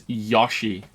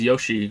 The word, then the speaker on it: Yoshi: bad I also knew some people that pronounced Yoshi as yashi and that bothers me too so I can be hypocritical like Yosi just sounds really bad also he says Yoshi when you you know